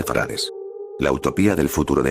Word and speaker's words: farad: Viví en la gran ciudad de farad que se pronuncia farad la utopía del futuro